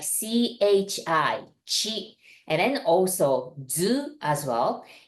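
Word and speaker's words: ち: with a second one Chi you may want to pronounce it like t i t but we really pronounce it like CH h i CH and then also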